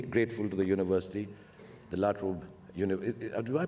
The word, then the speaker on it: La Trobe: I'm deeply grateful to the university, the La Trobe, do I pronounce it right? La Trobe. La Trobe, okay.